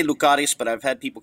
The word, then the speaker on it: Lucaris: wrong but uh uh lucares i say lucares but i've had people correct me and say no the emphasis is on the first syllable lucaries but yes cyril lucaris